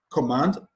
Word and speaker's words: command: on the first level command the stress is placed on the second syllable conclude the stresses placed